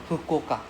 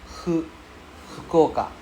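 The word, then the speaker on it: 福岡: It's closer to an H sound. Hu. Yeah, just gently blow out air. Hu. Okay? Very good. Yes. Sorry, louder. Fukuoka. Hu. It's not fu.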